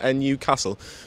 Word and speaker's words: Newcastle: But for a very, very good reason, me and Matty are here at Newcastle, but it's pronounced a little bit differently, isn't it? NUcastle.